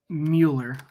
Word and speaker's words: Mueller: It's kind of like was it Bueller's last? God, what was it called? But it's Bueller. So Mueller. So it is Nicholas Mueller.